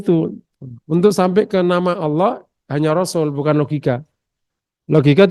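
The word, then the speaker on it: الله: Al-ilah, hamzah yang di tengah itu berat, maka dibuang. Jadi al-lah. Al samsia ketemu lam, tafkhim Allah. Karena tidak baca apa, enggak belajar tajwid, jadi bacanya Allah.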